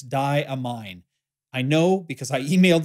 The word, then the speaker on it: Diamine: in an earlier video the correct pronunciation is in fact diamine not diamine or diamine or damine or whatever it is I said in previous videos it is damine I know because I